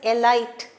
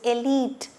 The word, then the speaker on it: elite: designed for for the elite crowd many people pronounce this word as alight it does not alight it is elite elite okay elite complex is designed for the